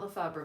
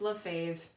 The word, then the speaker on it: LaFave: it love thought rubba it's not font Lefevre but it's love fav it's a conversation piece